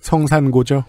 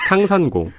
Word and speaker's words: 상산고: 성산고죠? 성산고 그리고 고려대 영문과 졸업했고요. 성산고라고. 성산고. 상산고. 맞았어요. 성산. 아, 상산이다. 상산.